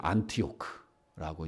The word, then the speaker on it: 안디옥: 그 헬라어 발음으로 하면 안티오크라고 이제 발음을 하는데 이 초대교회 시대의 이 안디옥은 예루살렘이랑은 비교할 수 없는 큰 도시입니다.